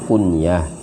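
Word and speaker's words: كنية: Kunyah, membacanya jangan kunyah ya. Kunyah nanti dikunyah-kunyah makanan. Membacanya harus berhenti.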